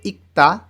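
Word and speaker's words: 읽다: শিনমুন পত্রিকা এই দুইটা পিকচারের মাঝখানে লেখা আছে ইক্তা পড়া এই গিয়ক বাচ্চিমের পরে দিও আসলে দ টা ত উচ্চারণ হবে ইক্তা পড়া এই দুইটা জিনিস যখন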